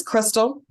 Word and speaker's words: Christal: thank you so Crystal um now am I pronouncing your first name correctly it's Crystal is Crystal okay okay so let me not